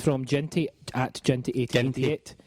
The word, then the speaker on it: Ginty: It's from Ginty at Ginty1888. Hard G. Ginty. Hard G. Apologies.